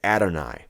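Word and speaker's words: Adonai: also in Hebrew uh the A and the Y together produce um an I sound so this would be read adoni so the mazarites took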